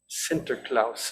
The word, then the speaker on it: Sinterklaas: Sinterklaas was the Dutch pronunciation of his name.